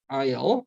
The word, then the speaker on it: aisle: aisle이라고 읽었죠? aisle. s가 발음이 되지 않죠? 그래서 window seats, aisle seats 이렇게 구별하죠.